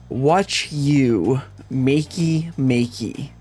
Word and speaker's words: Wachumeqimeqi: crafting is the name if you pronounce it a bit differently is watch you makey makey.